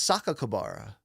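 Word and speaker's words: Sakakibara: No, it's Saka Kabara.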